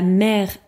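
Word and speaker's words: mer: Donc on a 3 mots qui se prononcent de la même manière, mais qui ne veulent pas dire la même chose. La mère, M-A-I-R-E, ou le maire, c'est the mayor. La mère, M-E accent grave R-E, c'est the mother. La mère, M-E-R, c'est the sea.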